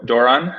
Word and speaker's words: Doiron: Nick uh I'm gonna probably your name last name wrong sorry do Doran uh is that right yes that's good okay